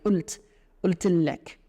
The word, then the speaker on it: قلت لك: But it's not a qaf, they don't pronounce a qaf here. They say قلت لك.